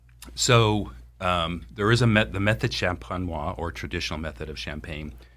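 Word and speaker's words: méthode champenoise: Champenois. Is that how you say it? Yeah, method champenois.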